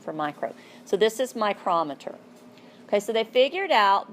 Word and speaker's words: micrometer: So they introduced a new term, and it's called a micrometer or micrometer. Here, I'll spell it for you at the bottom. I pronounce it micrometer. If you'd like micrometer better, that's cool.